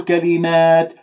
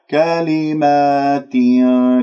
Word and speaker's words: كلمات: لا تقول كلمات فتاب لا تمل الألفات خلي اللسان مرتاح كلمات كسرة التاء بعدين أدخل